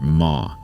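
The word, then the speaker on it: 間: Japanese readers learn to pronounce this character ma.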